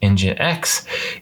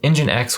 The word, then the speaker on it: nginx: and whatnot but ever after um f5 bought engine x it seems to have lost its roots a